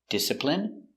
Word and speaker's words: discipline: Words ending in i can have different pronunciations. All of these have the sound in. Imagine, examine, engine, discipline, feminine, and masculine.